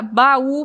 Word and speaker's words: baú: E aí nós temos também agora a palavra baú, por exemplo, e saúde. Ó, baú, acento tônico no U e saúde, o acento tônico no U também. Então, a sílaba mais forte é no U. Saúde, baú, no U também.